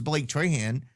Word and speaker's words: Trahan: And then I'm listening to him interview, and he introduced himself as Blake Trahan.